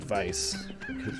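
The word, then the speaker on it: Weiss: if they call them wise but clearly the word is pronounced vice German word yeah getrekt that particular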